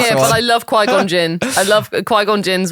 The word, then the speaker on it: Qui-Gon: I'm with Qui-Gon Dave. All these years later, I'm still ridiculously excited for new Star Wars games. Yeah, come on. It's just the... Did I say his name right, Qui-Gon?